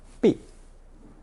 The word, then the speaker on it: 臂: We encountered 手肘 in lesson 64, meaning the elbow, and now we have the arm, pronounced fourth tone 臂, usually in combination 手臂.